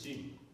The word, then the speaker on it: 静: In Chinese is the pronounce is a jing.